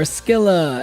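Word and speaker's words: Scylla: Stila or Skila as they like to pronounce in the game.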